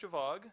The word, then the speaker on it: Gjovaag: So first of all, I'm Gjovaag.